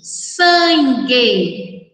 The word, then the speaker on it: sangue: Quando nós pronunciamos essas palavras, esguicho, sangue, guiar, nós não pronunciamos a vogal U, ok?